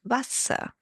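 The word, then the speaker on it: Wasser: The W sounds like a V and the E R becomes a H at the end. Vasa, meaning water.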